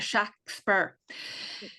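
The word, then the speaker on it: Shakspere: He used to spell it s h a ks p e r e. So it was a a flat a shack spur.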